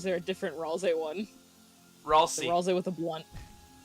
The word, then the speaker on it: Ralsei: video I posted in the meme channel about Ralze. Oh, okay, so is Ralze the Benz? That one, or is there a different Ralze one? Ralsei.